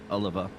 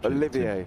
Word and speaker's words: Olivier: He's got Nilton out there in the fan club pushing for him, Oliver. And sorry, not Oliver. How do I pronounce these? I keep forgetting Olivier.